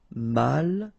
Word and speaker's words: malchanceux: Final X not pronounced. C-E-U, ce, malchanceux.